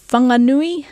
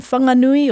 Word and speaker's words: Whanganui: And the f of Whanganui, well, if you're from Whanganui or from certain iwi around the Taranaki region, you're not going to pronounce it as a f, but instead as a w, the w sound in English.